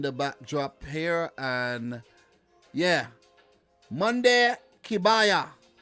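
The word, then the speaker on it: Kebaier: So let me just pull up the Tunisian page in the backdrop here, and yeah, Monday Kabaya, say his name properly. You know, not spelt right there. Kabaya.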